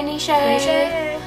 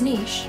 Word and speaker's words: niche: nishe sound a name oh hi nishe um it's niche it so it's not Niche but let me finish reading don't lie to me the 20th century more people embrac the true friends pronunciation I described it as Niche both are correct so I'm right both